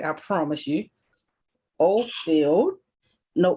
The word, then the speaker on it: Oberfeld: We have Miss Naheed from I'm not going to pronounce it right, I promise you. Oberfeld. No, Oberfeld.